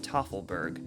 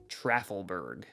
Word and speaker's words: Tafelberg: features of the course, Mount Tafelberg, which fittingly translates to Table Mountain, and which was mispronounced in the Old Quarry marketing video as Mount Trafelberg.